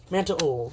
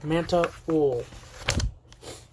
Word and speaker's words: Mantibull: You know, I say these things are mantabull. That's how you pronounce it. Mantabull.